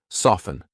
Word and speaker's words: soften: Hustle, or F-T-E-N, silent T. Often, soften. I'm not saying often.